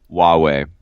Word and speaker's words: Huawei: and still butcher this name how do you pronounce this its Huawei Huawei okay thank you sir yeah so this Huawei